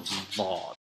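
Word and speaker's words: ظ: It's like a heavy th sound with a little more emphasis, so dha.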